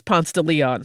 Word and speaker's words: Ponce de Leon: city where the name Ponce de Leon is Ponce de Leon.